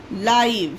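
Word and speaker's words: live: एल एल से ल होता है और आई यानी ला ई और वी ई से वा लाइव यहां पर इ का उच्चारण नहीं हो रहा है। यहां पर ई साइलेंट है गाइस। ओके? तो ये ये पढ़ा जाता है एल आई वी ई लाइव।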